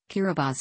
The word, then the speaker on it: Kiribati: of the tongue guru or Gilbert's chain the pronunciation differs Carabas is the official pronunciation as T in the